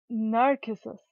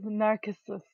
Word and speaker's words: Narcissu: Hey guys, and welcome to Narcissus, because that's what it says in the Japanese title right there. Instead of Narcissu, whatever, it's actually pronounced as Narcissus, or Narcissus.